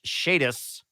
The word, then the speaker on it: Chadus: one sub we've got chadus with a re subscription at tier one not sure about the two months feels less but okay also Bosco my name is pronounced shadis the first time you